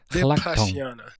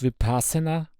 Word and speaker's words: Vipaśyanā: Übrigens, das heißt hlak tong (LHAG MTHONG): Vipashyana . Zunächst einmal: Es wird NICHT "vipassana" ausgesprochen. Das ist eine Verunglimpfung des Worts "vipashyana".